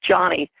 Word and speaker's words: Joni: So even still, a lot of people call me Joni, J-O-N-I, but it is pronounced Johnny.